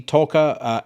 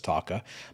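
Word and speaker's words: Taake: It says here, the Norwegian black metal entity Talker, as corrected by, or my pronunciation was corrected by Swartalv last week, because I used to refer to them as Taka, much like many others, will be headed out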